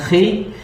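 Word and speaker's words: Χ: Nah, jadi XP itu kalau XP bacanya dalam bahasa Yunani, X itu bacanya Chi, P itu bacanya Ro.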